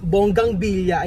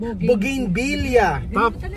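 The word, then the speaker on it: bougainvillea: tawag sa pag ang ang pronunciation daw ng ano ng ah ng B bonggang billa ay boging billa kailangan tumatal si May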